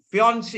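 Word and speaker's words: fiancé: and number 10 my fiance yeah you pronounce this as Beyonce not Finance so my fiance hasn't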